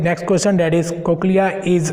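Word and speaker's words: cochlea: Okay, question number 6 is that, क्या बताया था सर इसका प्रोनाउंसिएशन? कोक्लिया ना.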